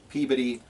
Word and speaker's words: Peabody: president and CEO of Friedman Financial located in Peabody Massachusetts not Peabody but you're all local you know it's Peabody right hey I got this great t-shirt from